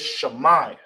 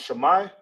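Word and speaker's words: שמע: you will say it, how you pronounce it is shama. All right. All right. So hear and listen is in uh ancient Hebrew is it's is pronounced shama.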